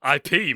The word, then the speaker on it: Ip: So you said so you said IP Man is winning me when someone asks why I go to the toilet so much, and I said it's actually pronounced Ip, and you said you're